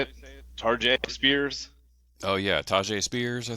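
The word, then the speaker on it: Tyjae Spears: Tarjay Spears. Oh yeah, Tajay Spears, I think. Yeah. Tajay Spears.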